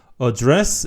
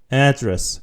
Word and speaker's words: address: address 이렇게 하면은 의미가 다른 단어고요. address. 그래서 강세가 요 앞에 a에 있다는 것을 기억해 주시고요. address. 이러면은 주소라는 의미고요.